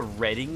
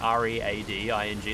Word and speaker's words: Reading: There's a freaking It's called a Reading Cinema. Like R E A D I N G. Like reading, but it's pronounced Reading.